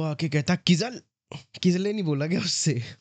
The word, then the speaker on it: Kizzle: रिजुल, हाँ, किसले बिकम्स किजले, ठीक है। तो किजले की spelling should have been KIZLAYA, बट उसकी स्पेलिंग बना दी KIZZLE।